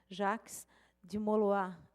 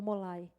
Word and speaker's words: Jacques de Molay: maçônica, o grão-mestre da Ordem dos Cavaleiros Templários, Jacques de Molay. Assim se pronuncia? Ou Molay? Molay?